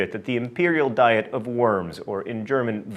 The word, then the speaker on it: Worms: Emperor Charles V at the imperial diet of Worms, or in German, Worms. Also, let me say retroactively, now that everyone has commented on my poor German pronunciation, Wittenberg.